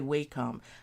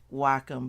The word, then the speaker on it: Wacom: so I understand what you're saying Judy but it's spelled different so um it's by Wacom actually they say Wacom but I can't do it so I say Wacom w-a-c-o-m and yes thank you there you go